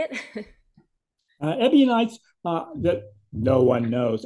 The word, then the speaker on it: Ebionites: know but uh but I I pronounce it ebionites because that's that's the way it looks like in in English when you write right out the word but if somebody comes